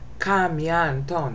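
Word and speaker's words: κἀμίαντον: Kam yan ton. Now remember, we got Crassus here, so you don't pronounce that. It's just kam.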